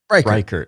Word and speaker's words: Reichart: Rickart? How do you pronounce it? Reichart.